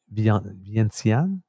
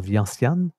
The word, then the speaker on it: Vientiane: So, but I'm not sure if that's there's an Asian pronunciation to that, or if that's the French pronunciation.